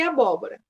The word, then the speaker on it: abóbora: receita aqui em abóbora se você falar abóbora você vai perceber que a sílaba tônica que é a sílaba mais forte ela é a segunda ali né a terceira no caso é proparoxítono isso significa que o